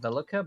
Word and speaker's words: Velika: The weird thing is that we've always said Velica, but it's actually like everybody else pronounces it Velika, and I'm like, what the fuck?